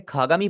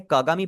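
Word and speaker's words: 鏡: लेकिन यहाँ पर आप बेशक इसे खागामी पढ़े कागामी पढ़े, दोनों का मतलब सेम ही है, ठीक है।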